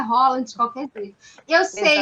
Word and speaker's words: Haaland: E agora não sai mais, agora é Holland de qualquer jeito. Eu sei, Exatamente. gente, que a pronúncia é correta, né?